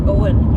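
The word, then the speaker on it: Eoghan: that's how it's spelled it looks like eogan pronounced Owen so many of them the other one is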